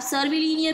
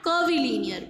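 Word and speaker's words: curvilinear: आप सर्विलिनियर भी प्रोनाउंस कर सकते हो या कर्विलिनियर भी.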